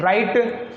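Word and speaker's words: write: फिर WRIT, वराइट नहीं, राइट, रिंकल, और ये रिंग, रॉन्ग। तो W और R साथ में हो तो शुरुआत में दिखी स्पेलिंग आपको, तो वहाँ W को पढ़ते नहीं, ये लिखा हुआ है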